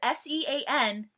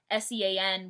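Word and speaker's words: Seán: Well, I don't know if it's Sean in Irish, but Sean with like an accent mark over one of them letters is pronounced Sean in Irish.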